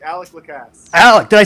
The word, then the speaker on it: Alec: do you pronounce your name how do you pronounce him oh alec alex alex did i say alex yeah you're good